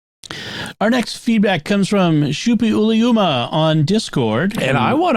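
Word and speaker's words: Suppiluliuma: Shupi Uliuma was one of the Hittite kings. And at least that's how the ancient name would typically be pronounced.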